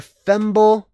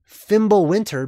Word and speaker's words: Fimbulvetr: Ragnarok is preceded by Fimbulvetr. Fimbulvetr. There's different ways to pronounce that, okay? Fimbulvetr or Fimbulvinter or Fimbulwinter, basically, wintertime.